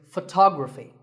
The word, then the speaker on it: photography: our next word is photography we say photograph but photography so the first syllable becomes F and the stress goes to the second syllable tography so Photography in the same way